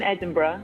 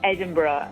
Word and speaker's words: Edinburgh: If you want to impress a Scottish person, yes, you say Edinburgh, not Edinburgh. American people say Edinburgh. If you say Edinburgh, they'll be, oh, you say it properly.